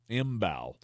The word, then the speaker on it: Mbow: Imbow. Yeah, it's pronounced exactly how it's spelled.